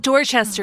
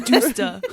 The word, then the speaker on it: Dorchester: She's like, it's not Dorchester, it's Doosta. Right.